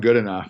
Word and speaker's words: Goodenough: Is it John Goodenow or John Goodenough? How do you pronounce his name? Yeah, it's John Goodenough.